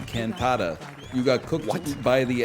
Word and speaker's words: cantata: What the fuck is cantata? I wanted it would've to gone rhyme with with critters.